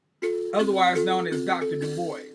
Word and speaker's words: Du Bois: In English, we like to say his name as Du Bois, but that's because we don't know French anymore. So we call him Du Bois, but technically the name is Dubois.